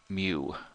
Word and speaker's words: mu: asked if y equal mu to the^ of T and mu is a Greek letter if you haven't heard it before it's it's pronounced like a cow mu where mu is a